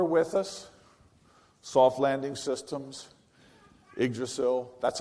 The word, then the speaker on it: Yggdrasil: Unfortunately, some that are no longer with us, soft landing systems, Yggdrasil, that's how you say it, by the way.